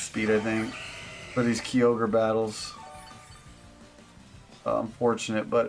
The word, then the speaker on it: Kyogre: Nino, the Japanese spelling is unambiguously pronounced Kyogre, not Kyogre.